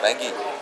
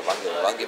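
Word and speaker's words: Vanakkam: Yeah, I think it's the Tamil word called Wange. Wange means welcome. Wange. Yeah, but it's spelled in such a way that most English educated people will pronounce it as Wangi because it's spelled Vangegey.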